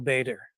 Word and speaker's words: Bator: and my last name even though I pronounce it Bader like all the other Canadians it's actually bought or